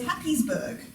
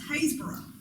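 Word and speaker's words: Happisburgh: that to look at you might think was happysburg it's a very happy place perhaps except that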